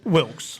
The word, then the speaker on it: Wilkes: Wilks.